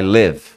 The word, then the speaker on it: live: pode dar problema aqui se você fala assim I wanna live here eu quero morar aqui quero morar I Wan to live here I Wan to leave here eu quero sair daqui I wanna leave here então Live morar viver